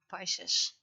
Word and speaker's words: Pisces: at least Aquarius and Pisces done. Pisces. I always try to pronounce it the Latin way, because I had a teacher and they were very strict about Latin pronunciation.